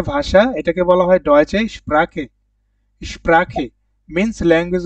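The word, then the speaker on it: Sprache: তো এখান থেকে একটু শিখে ফেলি যে ল্যাঙ্গুয়েজ মানে ভাষা, এটাকে বলা হয় ডয়েচে স্প্রাখে।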